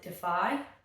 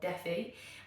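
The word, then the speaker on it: Dephi: The second one is, I think you pronounce it Defy, yeah, D-E-P-H-I or Defi, and this one is super duper scary.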